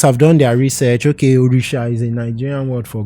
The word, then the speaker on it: Orisha: call our character orisha but they didn't know the right pronunciation they were probably reading it how it was spelled yeah so they called that urisa yeah so I was